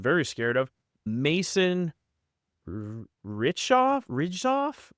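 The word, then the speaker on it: Hriczov: Ridgoff. I don't know. I like it. I It's a great name. However you'd say it. I think the H is silent.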